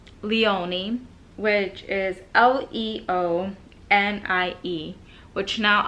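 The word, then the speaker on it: Leonie: having trouble with I I'm just so bad pronouncing names um it's Leone which is l-e-o-n-i-e which now I'm like okay yeah that's obvious so Leone and then we have we don't have much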